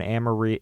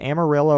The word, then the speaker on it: Amarillo: The locations of these facilities were in Amarillo. Is it Amarillo or Amarillo? I think that the Americans would call it Amarillo, but Amarillo means like yellow in Spanish, so...